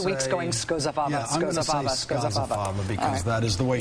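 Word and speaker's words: Scozzafava: Skozafava. Not Skoza? No, and you can be one of the downstaters who says it correctly. Yeah. That O is pronounced as an A. Skozafava.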